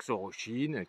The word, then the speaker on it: Xorroxin: chine puisque dans le pays basque dx se prononce ce mardi on dire on y cherche inpacq soro chine comme on dit moche ou et pam oms